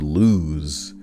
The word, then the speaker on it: lose: Like loose and loose? No, don't say it like that. It's loose and lose.